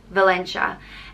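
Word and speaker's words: Valentia: points of Ireland and it's spelled v-a-l-e-n-t-i-a and it's pronounced Valencia and there's a common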